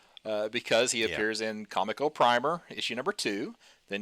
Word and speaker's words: Comico: The first time I heard someone say Kamiko I thought what is wrong with them? It's It's definitely Comico. I mean, it's comic company ComicCo.